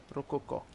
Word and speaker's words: rococò: rococò in argento questo rococò grande di qua no ama dover un figlio r oggi o c o con l'accento sulla o roccocò sentry devi questa frase